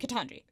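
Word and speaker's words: Ketanji: Is it Katanji? Katanji.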